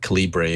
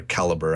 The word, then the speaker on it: calibre: there's also a great free program called um calibre or caliber i've heard it pronounced both ways that you can use to